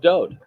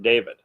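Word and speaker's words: Dowd: set to music of Do he is the Beloved and do is the correct pronunciation of his name it is not David there is no second vowel in his name just one the W and it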